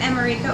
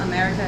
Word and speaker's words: America: It's just sort of an accent on the wrong syllable for the word America. So it's instead of America, it's America.